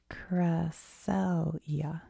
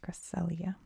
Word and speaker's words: Cresselia: Cresselia. Cresselia.